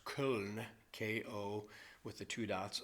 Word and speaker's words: Köln: In the city of Cologne, which in German is pronounced Köln, K-O, with the two dots over the O, L-N, Köln, right on the it